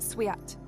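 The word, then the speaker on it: свят: musicians hailing the deity in the Russian church service this is pronounced suat suat suat and means holy holy holy in one of his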